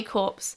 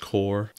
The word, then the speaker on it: corps: fiercely attack kuratas army corpse protect the holy city that word is pronounced core gosh darn it you're